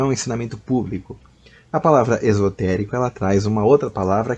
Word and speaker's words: exotérico: ao Esotérico é o exotérico com x né pronuncia-se o x como x mesmo porque se pronuncia como Z fica Esotérico com s né nem exotérico né